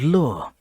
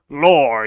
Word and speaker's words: lore: good gameplay art and lure it is pronounced lore you crackhead and that's what we're